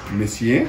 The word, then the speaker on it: Monsieur: Nuestra tienda se llama Messier, se escribe Monsieur.